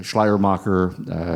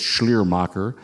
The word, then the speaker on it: Schleiermacher: Am I pronouncing that correctly? Yeah, Schleiermacher. I first learned Schleiermacher from a Canadian professor who always pronounced it as Schleiermacher.